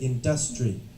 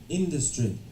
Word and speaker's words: industry: Industry. Okay, so this student thinks that the stress is on in, right? Industry.